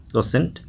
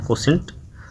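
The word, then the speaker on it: quotient: ये कोसेंट, क्यू यू ओ, देखिए कोसेंट का स्पेलिंग यहाँ लिखा हुआ है, थोड़ा सा ये इसका स्पेलिंग जो है वो टेढ़ा है, कोसेंट, और इसका नाम है इसका,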